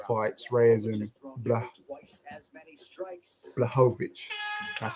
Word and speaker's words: Blachowicz: Hasn't been one of the 3-hour ones I usually do, but nonetheless, I'm here to catch the last 2 fights, Reyes and Blachowicz.